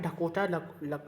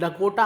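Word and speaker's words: Dakota: तो आपके किसी काम करे आपको सुनना है कोकोटा सॉरी डकोटा आपके किसी काम करने है आपको सिर्फ इन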